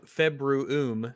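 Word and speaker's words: Februum: about no it's so februm if there's two u's you you pronounce them both in latin february okay that sounds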